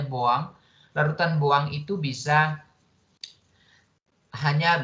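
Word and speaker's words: Bouin: kita larutan buang tadi jadi itu tulisannya Boin bacanya bawang larutan yang itu bisa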